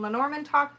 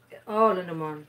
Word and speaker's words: Lenormand: It's Lenormand. Lenormand, yeah. But I always call it Lenormand, because stuck in my head. Well, it can be lay and it can be le, depending on the context.